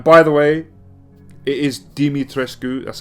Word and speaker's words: Dimitrescu: don't know why they've got a voice actor pronouncing domitrescu in the game because i'm pretty sure i heard ethan say domitrescu you can't even get the